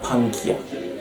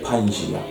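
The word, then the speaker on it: Pangaea: just one land MK which was called pania or Pangia depends with how you want to pronounce it then this land land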